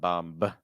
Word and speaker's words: bomb: today is the word bomb so it's not bomb take off the B so ah um B you want to make sure your placement doesn't go too high after that b so it's ba ba it's not ba that's too tight keep your throat and Airways open ba bum all right Emanuel